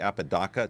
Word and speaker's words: Apodaca: and there she is Apodaca Apodaca okay I'm sorry Apodaca Tiffany Apodaca is the correct pronunciation of the name she